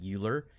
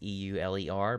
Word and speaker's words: Euler: Now, I mentioned Euler angles last time. If you look at how it's spelled, you would think it's Euler. It's E-U-L-E-R, but pronounced Euler.